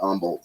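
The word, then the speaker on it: Humble: up north of Houston in a town called Umble no I never really did any I played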